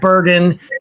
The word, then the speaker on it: Burgin: And we're going to start this evening off with the great writer, director of the film Fang, Burgin and Isabella Rangel.